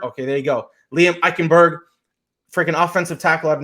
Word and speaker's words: Eichenberg: And then obviously your boy, I don't know how to pronounce his last name, but out of Notre Dame, it's Eichenberg. Okay, there you go. Liam Eichenberg, freaking offensive tackle out of Notre Dame.